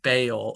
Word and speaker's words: Baal: kids so that's why sometimes you hear pronounced bail or but all some people